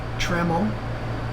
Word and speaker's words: Tramel: Hanging out with Whitney Tramel. It rhymes with camel, she said, so I'm going to remember it now.